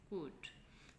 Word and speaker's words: could: About, about, about, कुड, COULD, कुड, इसमें L silent है, कुड।